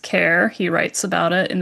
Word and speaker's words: Kerr: He pronounces it kerr. However, it is actually pronounced care.